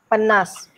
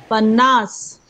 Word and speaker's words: pannas: You are saying panna, that last syllable has to be audible. There is no silent in Konkani. Pannas. Ah, pannas. Earlier you said panna, panna. You made S silent.